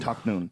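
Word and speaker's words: Tahnoon: Taknoon.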